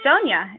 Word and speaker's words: Sonia: okay all right so Sonia do you want to start us off hi can everyone hear me yep hi my name is song I actually pronounce it Sonia like Tonya my name is Sonia